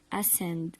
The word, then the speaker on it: ascend: He is going up, so it is called ascend. Ascend. Ascend. Pretend that like it's not there in the word, the letter C.